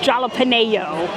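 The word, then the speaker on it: jalapeño: We have our jalapeno, which I like to fondly say jalapeno, right here. Oh, man, I can't even pronounce it incorrectly. It's jalapeno, apparently, okay?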